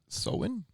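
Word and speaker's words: Samhain: Back to the ancient Celtic Festival of samine pronounced soen anyways the Kel who Liv Sam the Kels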